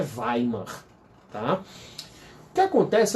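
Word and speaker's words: Weimar: dos direitos sociais tá escreve waymar mas a pronúncia é vai mano tá que acontece é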